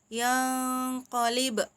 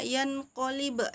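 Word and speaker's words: ينقلب: Jadi contohnya kayak di surat Al-Mulk yang qalib. Nah, itu biasanya ada yang bacanya yan qalib. Nah, jadi harusnya yang qalib. Nah, jadi disamarkan. Jadi bukan jelas, bukan yan qalib tapi yang qalib kayak gitu ya.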